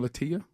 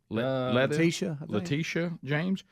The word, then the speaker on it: Letitia James: Letitia. Letitia James.